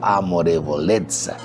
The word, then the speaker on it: amorevolezza: Amorevolezza, que termina así como se pronuncia la palabra pizza, ¿no? Pero es amorevolezza.